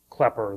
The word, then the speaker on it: Klepper: by the way the the T in my name is silent and the uh the umlout makes it more of a soft e so it's closer to klepper than to Clair um the name comes